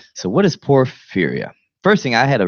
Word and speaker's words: porphyria: So what is porphyria? First thing, I had a really hard time pronouncing it. Yeah. I was saying like por, like Speech. porphyria. Porphyria. It's port. Yeah, I was saying Porithia.